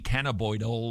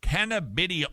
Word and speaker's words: cannabidiol: Is the hype about CBD or cannabidiol, how do you pronounce it? Cannabidiol? Is that how you, cannabidiol? It's not oil, it's eol.